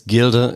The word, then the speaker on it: Gilde: know I'm going to mispronounce it gilde is pronounced yeah it's we call it it's Gilda in German and it's the German word for